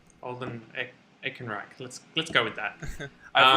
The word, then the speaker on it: Alden Ehrenreich: Alden Ehrenreich, I believe that's how you pronounce it. Alden Ehrenreich.